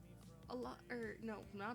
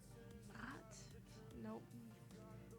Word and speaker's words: Nacht: Well, it's actually spelled Nacht, like the German version of night. Actually, I think it's pronounced not.